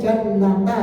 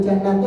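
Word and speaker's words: جَنَّةَ: Berarti berarti kalau di objek antum bacanya jannata ya. Enggak boleh jannati atau jannati. Salah.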